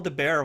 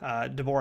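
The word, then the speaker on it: de Boer: I'll refresh your memory a bit, because Nicole DeBear was there. DeBoer, I always forget how to say her name too, but she was there as Ezri.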